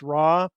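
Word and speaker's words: ROIR: R O I pronounced RAW.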